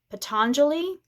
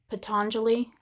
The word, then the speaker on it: Patanjali: And I think it's pronounced Patanjali. Patanjali. You can look up the quote. Patanjali. Patangali.